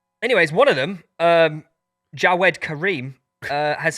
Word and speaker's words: Jawed: It's Jawed. It's j a w e d. Jawed, but you're just saying it wrong.